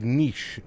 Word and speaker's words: Niš: You pronounce it like niche. Got you. Niche. Niche or niche? Niche. We'll go niche.